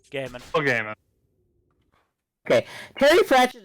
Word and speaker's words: Gaiman: I mean, Terry Pratchett and Neil Gaiman, I still don't know how to pronounce his name. Gaiman.